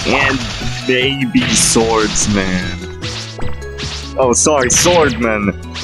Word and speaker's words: Swordman: Which for some reason the voice actor for Swordsman gets wrong. Swordman. He said, I'm Swordsman. When, no, there is no S. It is spelled as 2 separate words. Swordman, not Swordsman.